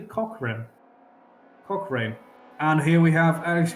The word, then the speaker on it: Cochrane: Alex Cochrane, I've been pronouncing like that. It's actually Cochrane.